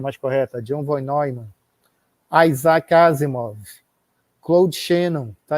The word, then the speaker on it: John von Neumann: A pronúncia mais correta, John von Neumann.